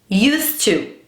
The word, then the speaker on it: used to: A pronúncia adequada dessa estrutura é used to. Used to. Eu vejo muita gente falando assim, I used to play tennis. A gente em inglês não pronuncia o ED dos verbos regulares no passado da mesma forma que a gente faz em português. Esse ED nunca é marcado.